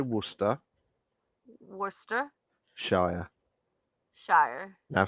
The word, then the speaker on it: Worcestershire: I, Worcestershire. Yeah, Say I Worcester. cannot. I Say cannot because Worcester. there's a sauce as well, and I mess it up so bad. No, just say Say Worcester Worcester Shire.